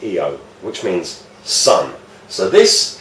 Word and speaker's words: Io: So it would be Io, which would be pronounced Eo, which means sun.